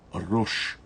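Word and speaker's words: ראש: Já em hebraico a gente pronuncia Rosh.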